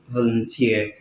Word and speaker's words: volunteer: Words ending with this suffix are stressed on the very last syllable. Okay? So we have it in words like PE, referee, volunteer, and many other words like that.